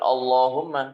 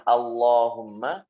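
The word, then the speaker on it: اللهم: Akbar bukan Allahu akbar Itu juga kalau banyak sholawat Allahumma sholli ala sayyidina muhammad bukan Allahumma tapi a a Allahumma sholli ala sayyidina muhammad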